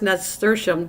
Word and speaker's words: nasturtium: saying it like that but the t-i-u-m is shum and i don't pronounce it normally that way i pronounce it the way it looks nasturtium okay well that's good